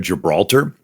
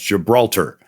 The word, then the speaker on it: Gibraltar: So Jabal Tariq. So over the years, Jabal Tariq got pronounced Gibraltar.